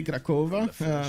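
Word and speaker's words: Kraków: Now here in Latvia we say Krakova with O. I'm kind of mind blown. It's pronounced with U in Polish.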